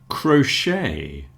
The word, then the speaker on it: crochet: Crochet has a sh in the middle because it's French.